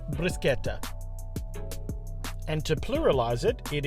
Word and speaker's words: Bruschetta: have a different pronunciation here in Australia you would call it Bretta but doing a little research it's brusketa and to pluralize it